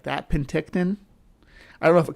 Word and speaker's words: Penticton: Penticton. Okay. I can say it like that. Penticton.